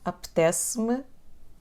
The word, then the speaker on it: apetece-me: Apetece-me, então pronunciamos estas duas palavras como se fosse uma. Apetece-me.